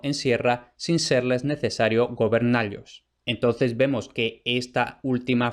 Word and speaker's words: gobernallos: Y de ahí vemos claramente que si tiene que rimar con vasallos y caballos, eso es porque se pronuncia gobernallos.